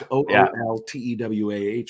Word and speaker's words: Ooltewah: And I said, "Ooltewah." The L is silent. It's Ooltewah.